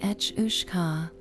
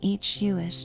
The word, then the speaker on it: each: pronounced something like etcha, it simply means water horse. But this simplicity is deceptive. The each is often considered the kelpie's more ferocious, more relentless cousin.